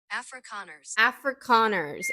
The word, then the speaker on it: Afrikaners: Afrikaners.